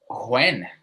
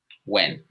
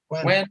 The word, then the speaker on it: when: this weird you're pronouncing when which is a very interesting way to pronounce it but you don't pronounce this h okay just wait okay when when man when when